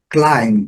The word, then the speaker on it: climb: Climb, que é o verbo escalar, climb, lembrando, fechamos a boca.